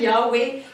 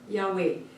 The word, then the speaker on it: Yahweh: Jehovah is actually just the name for Yahweh. It's different pronunciations for the same name.